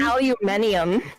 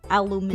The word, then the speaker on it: aluminium: did they say alum aluminium oh that's the European way of saying it aluminium yeah they say Al